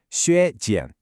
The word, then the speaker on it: 削减: The term here is 削减, pronounced 削减.